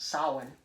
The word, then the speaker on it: Samhain: is important to note that it is properly pronounced samhain not same but dr loomis again chewing the